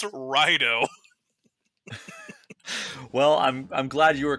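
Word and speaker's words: Raidou: Every podcast I listen to, Raidu remastered. Oh, did you hear this new Atlas game, Raidu? I'm going crazy here, but I'm like, Spencer, this is a PlayStation 2 RPG that released in 2006. Nobody remembers this game, let alone how to pronounce Raido.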